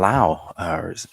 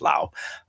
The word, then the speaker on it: Lao: uh whiskey and and and in in in Lao there is an s on it uh so a lot of people pronounce it LA but it they it is pronounced Lao uh over there anyway uh said that too